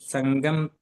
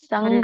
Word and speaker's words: ಸಂಗಂ: ಹರೇ ಕೃಷ್ಣ ಮಾತ ಇಲ್ಲಿ ಸಂಗ ಅಲ್ಲ ಸಂಗಂ ತತ್ವ ಮತ್ತೆ ಸಿದ್ಯ ಸಿದ್ಯೋ ದ ಕೆ